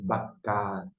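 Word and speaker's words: בקר: Lembrando que isso aqui no final, esse bacar, esse R aqui é tremulado, bacar.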